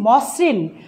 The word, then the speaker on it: মসৃণ: আদ্য অয়ের পরে যদি রিকার থাকে সেই অয়ের উচ্চারণ কি হবে? ও এর মতো হবে। উদাহরণগুলো খেয়াল করো, মসৃণ মোস, দেখো লিখেছি মসৃণ উচ্চারণ করছি মসৃণ, লিখেছি